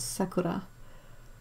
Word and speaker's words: sakura: I once had a guy trying to tell me how to pronounce the word sakura.